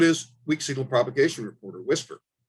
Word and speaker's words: WSPR: research so it's called weak signal propagation reporter which is pronounced whisper implications for anomalies research